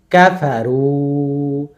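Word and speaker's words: كفروا: কাফা তাড়াতাড়ি, কাফা, কাফারু, কাফা তাড়াতাড়ি, রুতে ওয়ামাদ। আর এই যে একটা আলিফ দেখছেন, এটা বহু বচন, প্লুরালের আলিফ, এটা এক্সট্রা, এটা লেখার সময় আসবে বাট পড়তে হবে না, এর কোনো উচ্চারণ নাই।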